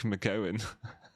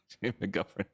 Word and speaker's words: McGovern: McGovern, I have teeth unlike McGowan. McGovern. I've been saying your name wrong, man.